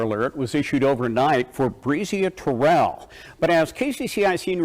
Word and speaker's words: Breasia: Her name is Breasia, by the way. But I know they pronounce it a little bit wrong, but it's kind of hard for them to pronounce these non-traditional names.